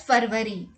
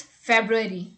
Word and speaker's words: February: the most confused word as well many people pronounce this word as farvary february but let me tell you it's not february it's february so the correct pronunciation is february and not